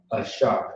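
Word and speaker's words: AHSHAR: Do you know how to pronounce it? That's right. Shaw. Ashar.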